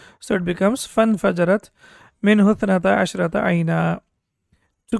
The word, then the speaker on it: فانفجرت: Basically, it's infajarat, but when we have fa or anything before that, then this hamza is not pronounced. So it becomes فانفجرت منه اثنتا عشرة عينا.